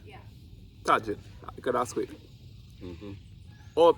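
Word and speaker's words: Tajín: Tajin? Yeah. Tajin. You could ask it. Oh, so because it's Mexican, they pronounce it with a H.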